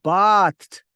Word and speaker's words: bathe: some verb form, then the pronunciation changes to bathe, B-A-T-H-E, bathe. I bathed at 8 a.m.